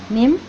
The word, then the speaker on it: Nîmes: CRES, de la Universidad de Nimes, así se pronuncia, maestro, Nîmes, en Francia, y del Centro de Investigaciones Iberoamericanas y Latinoamericanas de la Universidad de Perpignan, en Francia.